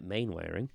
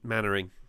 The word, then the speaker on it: Mainwaring: Station Officer Steele was inspired by Dad's Army character Captain Mainwaring. Captain Mannering. Mannering. You know what? You know when you see something written down and you have no